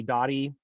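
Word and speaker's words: Doty: Dottie, which states that you can't litigate ownership in a summary proceeding. And Dottie is spelled D-O-T-Y for what it's worth.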